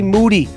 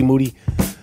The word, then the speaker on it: Moody: Moody. Last name rhymes with duty.